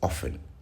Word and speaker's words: often: The word is often. The T is silent.